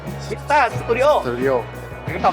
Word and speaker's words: MITTA: อะไร นะ ครับ 1 2 3 อ่าน ว่า มิต้า ขอ อีก ที ชัด ๆ มิต้า มิต้า Studio Studio เป็น คำ ตอบ สุด ท้าย นะ